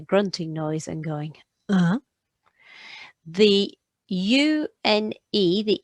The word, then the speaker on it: une: So you go U, N, because the E is silent, so it's une.